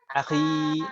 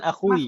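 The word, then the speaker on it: أخي: Akhi, dhammahnya mana? Akhi loh, kita bacanya akhi kan, bukan akhui.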